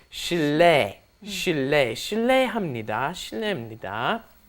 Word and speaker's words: 실례: is of course it just ends up being pronounced Sheila Sheila Sheila honey - right and Sheila in